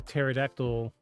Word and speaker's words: pterodactyl: can't you hear a pterodactyl when he's using the bathroom why because the p is silent oh my God so